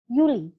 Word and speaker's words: Juli: maka dibacanya yogs Yap dan dibaca seperti huruf y contoh pada kata Juli bulan Juli kalau di Jerman disebut dengan Yuli Kemudian untuk huruf q